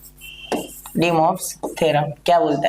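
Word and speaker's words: de Moivre: कोई कोई इसे डी मोवरेज थ्योरम भी बोलते हैं, ठीक है, या कोई डी मोवरेज थ्योरम भी बोलते, तो वो आपकी इच्छा है, आपको किस तरीके से वो प्रोनाउंस करना है, ठीक है।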